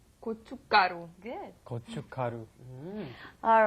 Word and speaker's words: 고춧가루: There's a shiat 받침 there, and it's not pronounced. So when you look at it, it looks pretty hard to pronounce. But 고춧가루. 고춧가루.